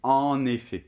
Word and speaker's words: en effet: Alors, au niveau de la prononciation, là, attention, on ne prononce plus du tout le T final. Hein. C'est le en, la nasale, et il y a la liaison, d'accord? Donc, ça fait en effet.